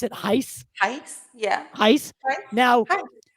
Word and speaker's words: HICE: Do I pronounce it HICE? HICE, yeah.